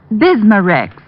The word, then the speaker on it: Bismarex: irritated stomach membranes i'll have to remember that bismarex is that how you say it that's right